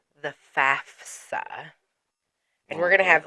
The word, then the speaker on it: FAFSA: FAFSA. I've only been doing this for like 20 years. Lots of people mispronounce that.